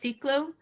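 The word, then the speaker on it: CiCLO: So, actually it's pronounced seclo c i l o.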